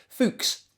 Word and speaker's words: Fuchs: Fuchs.